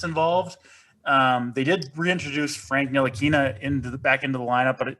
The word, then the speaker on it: Ntilikina: Hey, nice job on the pronunciation there. Ntilikina.